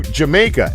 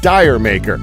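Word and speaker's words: D'yer Mak'er: The title of the Led Zeppelin song Jamaica is based off an Old English joke and is pronounced closer to Jamaica, not Dire Maker, as you can tell by the way I first pronounced it.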